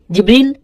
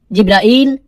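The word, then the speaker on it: Jibril: জিব্রিল, জিব্রাইল, জিব্রাইল, জিব্রাইল, জিব্রিল, এই 5 ভাবে তার নাম উচ্চারণ করা হয়।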